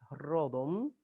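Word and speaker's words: ῥόδον: Por ejemplo, tenemos esta palabra que es rodon. Rodon es rosa. Retor, orador, donde viene retórica. Retor, fíjense que no decimos retórica, decimos retórica. Decimos rodon como en rosa en castellano.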